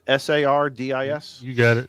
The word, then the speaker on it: Sardis: How do you pronounce this lake? Sardis, S-A-R-D-I-S?